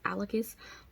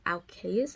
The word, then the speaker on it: Alkeus: as i say is i'm always saying his name is alicus but it's alkas i think the way it's spelled um and it's just